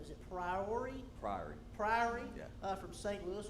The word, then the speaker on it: Priory: First game is against, I always get this name wrong. Is it Priory? Priory.